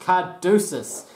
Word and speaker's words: Caduceus: It's pronounced Caduceus.